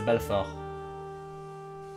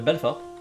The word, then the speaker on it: Belfort: I don't know how to pronounce it in French. It's the Belfort. What? The Belfort. Belfort.